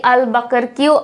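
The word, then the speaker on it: Albuquerque: Alphonso D আলবাকারকিউ or Alphonso D আলবাকার্ক। এই দুটো প্রোনাউন্সিয়েশনই correct, যেটা করবে সেটাই হবে।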